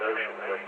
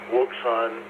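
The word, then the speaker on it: Wouxun: or go through a Mandarin or something, they pronounce the ocean. They've got, you know, just like with the mouth bag and everything else, you got stuff all over the map. You know, Wson and and stuff like that, but ocean's how they pronounce.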